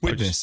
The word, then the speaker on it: Widnes: Yeah, just Widnes, isn't it?